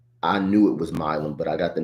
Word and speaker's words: Milum: I knew it was Milum, but I got the name wrong in real time when I announced the draft pick last week.